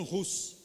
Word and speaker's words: Hus: Então a língua é a língua tcheca, e a pronúncia é Jan Hus.